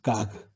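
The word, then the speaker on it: גג: 가그.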